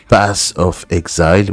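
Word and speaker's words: Path of Exile: prochain jeu les amis nous allons parler de pass of exile oui c'est comme ça que ça se prononce alors ce qui m'intéresse principalement c'est que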